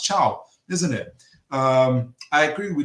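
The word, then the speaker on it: Thiaw: I keep saying Thao, but I hear it's pronounced Chow, isn't it?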